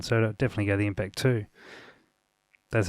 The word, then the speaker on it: MPC2: I believe they sort of intend that to be pronounced Impact 2.